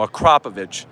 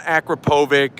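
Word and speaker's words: Akrapovič: crop of itch exhaust tell your friends you know how to pronounce it now a crop of itch it's not Akrapovic I don't know how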